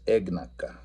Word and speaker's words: éyagnaka: The verb itself is éyagnaka, éyagnake. And so notice the stress is on the very first letter, that E, e.